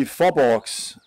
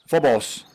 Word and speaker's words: Farborgs: Well, in Danish, it would be Farborgs. Farborgs. Without actually pronouncing the G, it's Farborgs. The G is kind of soft and silent, but just go with Faborgs.